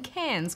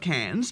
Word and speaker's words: Cairns: Spore, who is in Cairns, Queensland. Do you think Cairns is full of cans and that's why they called it Cairns? No, it's spelled Cairns. Cans. Cans. Cans. Cans. This just sounds like cans.